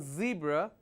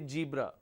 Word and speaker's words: zebra: not P it's page instead of saying zebra some people say jebra all right like college